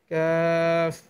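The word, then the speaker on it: كاف: শুদ্ধ উচ্চারণ কাফ, কাফ।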